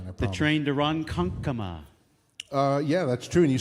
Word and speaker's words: Ronkonkoma: train to Ronkonkoma.